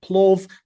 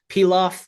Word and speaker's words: plov: I've heard this Nice. word pronounced in many different ways. Like I've heard plov, pilaf, pilau.